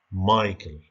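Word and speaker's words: Michael: شوفوا هذيك راه كتكتب ميشايل، ولكن راه كتنطق مايكل جونسون.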